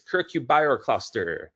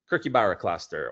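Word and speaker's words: Kirkjubæjarklaustur: It's circubercluster. Kirk Barra Cluster or just cluster as locals like to say.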